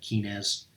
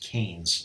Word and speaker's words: Keynes: Keynes, even though it looks like it starts with key, like Keynes, Keynesian, that's not how it's pronounced. Okay, it's pronounced Keynes like this.